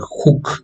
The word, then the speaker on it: Hooke: en 1665 robert huth robert hooke así se escribe es o perdón se pronuncia robert hooke se escribe esta manera